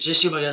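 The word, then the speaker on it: Jessy O'Magahn: Et mon pseudonyme, c'est Jessie Morgan. Alors ça s'écrit J-E-2-S-Y, plus loin, plus loin M-A-G-A-H-N.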